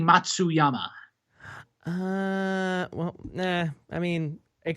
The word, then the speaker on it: Matsuyama: i just lost it why is that not how it's pronounced no it's uh it is hideki matsuyama ah yes okay so i can't read matsuzama that was funny i'm sorry um okay yeah let's uh regain our composure oh wait how is it pronounced it is uh hideki matsuyama uh well i mean